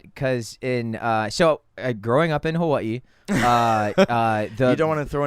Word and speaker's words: Hawaii: W is a Germanic W, right? Hawaii.